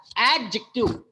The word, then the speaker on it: adjective: Do you know that it takes the stress on the first syllable? जो आपने adjective बोला, जो यहाँ पे स्ट्रेस दिया जाएगा इस वर्ड्स में आपको फर्स्ट सिलेबल पे आपको ज्यादा एम्फेसाइज करना है.